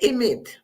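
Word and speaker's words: אמת: Se dice emet. Se escribe con 3 letras, ahí lo ven escrito, Aleph, Mem y Tav.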